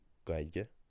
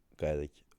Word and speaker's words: Gaillimh: If you say Gaillimh instead of uh Gaillimh or Gaillimh then you're using a Connacht word.